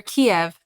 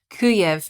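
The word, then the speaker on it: Kyiv: say this it's well kiev is how they say it in russian but there's a hang on the correct the correct way to pronounce it it is in ukrainian so when you hear kiev that is russian kuyev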